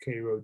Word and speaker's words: Cairo: georgia in cairo georgia it smelled like cairo like egypt but it pronounced cairo georgia but only lived there